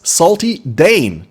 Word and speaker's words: Saltydayn: Welcome with us, Saltydayn.